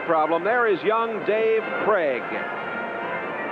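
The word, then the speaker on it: Krieg: there is Young Dave Craig k r i e g but pronounced Craig and he'll be coming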